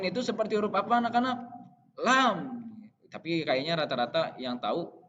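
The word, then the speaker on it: لام: Lam, lam, lam, lam. Jadi diucapkan dari lidah yang bagian atas yang mau menyentuh gigi seri bagian depan. La, lam.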